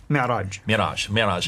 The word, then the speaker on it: Mi'raj: That's called the Mi'raj. How do you say it? Mi'raj.